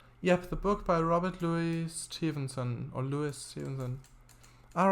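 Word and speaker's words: Looe: actually a town in Cornwall called that just Louie it's it's it's spelled Lou but it's pronounced Lou I believe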